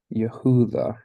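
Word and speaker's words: יהודה: it's Yahoo the Yehuda Yehuda and it's kind of tricky because that seems really long for the the short name that that it is but Yahoo the now when we get into our our syllable structures we'll see why that emphasis is is at the end there rather than right would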